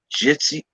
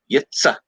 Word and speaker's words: Yitzy: They call him Jitsy Lemons, Yitsy Lemons. It's like, no. Yitza. Yitza. Yitza.